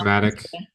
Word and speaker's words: numismatic: How do you say that? Anyone know? Numismatic, Yeah, numismatic.